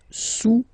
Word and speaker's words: sous: Le cube est sous le cylindre, okay, le cube est sous le cylindre. Don't pronounce the final S, and then this OU combination of vowels is pronounced OU, okay?